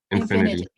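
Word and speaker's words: Infiniti: And back then, it was Buick and, should I pronounce this as Infinity or Infinite or some Infinity. other pronounce? Infinity.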